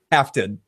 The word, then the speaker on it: Halfdan: It's called Halfdan. Halfton. Halfton, but it's spelled like Halfdan.